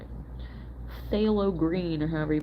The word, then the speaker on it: Phthalo: Looks like a phthalo green, or however you pronounce it, Aaron. It's Phthalo.